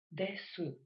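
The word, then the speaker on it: です: Дело в том, что часто во время разговора буква «у» редуцируется. То есть, если сказать простым языком, просто проглатывается и не произносится. Хотя полный вариант произношения, конечно же, тоже существует. Дэсу.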